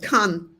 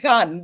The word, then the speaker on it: kan: Yeah, we pronounce it very different. Kan. Kan. Yes. Yeah. Kan. Okay. Yeah, because I thought Khan because we have the Anatolian pronunciation.